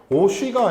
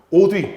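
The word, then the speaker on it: 옷 위: 근데 얘 발음은 오쉬예요. 오쉬가 아니라 오뒤로 발음 나야 되겠죠. 오뒤. 왜냐하면 뒤에 있는 위가 의미가 있는 말이니까.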